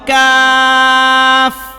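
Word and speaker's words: ك: এই যে প্রথম যে কফটা লিখছি এটার নাম হলো বড় কফ, এইটাকে আমরা বড় কফ বলি।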